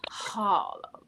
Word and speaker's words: Harlem: And of course, you got to put an accent on the HA, right? You got Harlem.